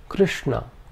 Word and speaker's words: Krishna: The second is a cerebral sh. This is the sh of Krishna.